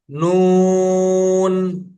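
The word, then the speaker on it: نون: জিহ্বার আগা তার বরাবর উপরে তালুর সঙ্গে লাগাইয়া উচ্চারিত হয় নুন। আবার পড়তেছি, জিহ্বার আগা তার বরাবর উপরে তালুর সঙ্গে লাগাইয়া উচ্চারিত হয় নুন।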